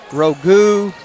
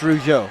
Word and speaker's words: Rougeau: Now, for the first half of the season, I called him Rogu. I called him everything. But finally somebody said, hey, man, it's Rougeau, like the wrestlers.